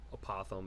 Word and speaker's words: apothem: a polygon to any side is called the apothem yeah because I pronounce this wrong for so long here we go opossum so apothem is the correct way to pronounce it and that is this distance right